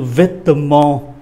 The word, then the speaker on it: vêtement: Chữ vêtement đọc chậm thì có 3 syllabe, đọc nhanh thì chỉ còn có 2 syllabe rồi thôi. Vêtement. Bỏ chữ ơ này đi ạ.